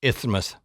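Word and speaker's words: isthmus: Now, the rock forms a narrow peninsula linked to mainland Spain by this low sandy ismas. And I did not mispronounce something. It's Ithmouth.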